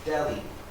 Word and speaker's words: Delhi: the age is silent it's pronounced delhi can we please go